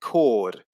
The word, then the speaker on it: chord: a similar effect with a silent h in words like character and chord so the words are pronounced as if the h doesn't exist in both cases but